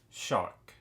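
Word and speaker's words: Xoc: we have one called Shock now I know it's spelled X XC but I looked in the book and they pronounce it shock and it's just basically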